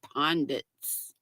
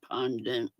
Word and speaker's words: pundits: VJ my buddy VJ I mispronounced pundits I said pondit we've been having a